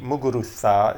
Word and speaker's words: Muguruza: Muguruza is the proper pronunciation since she's from Spain.